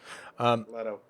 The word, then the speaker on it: Leto: How is that even pronounced? Leto. It is Leto.